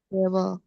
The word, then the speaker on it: Gabel: Garp gabel gabel ya gabel a dibaca a biasa tidak jadi e ya gabel gabel kopi